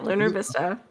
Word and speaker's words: Lunar Vista: Today, we are in none other than Lunar Vista. And did I say it right? Yeah, Lunar Vista.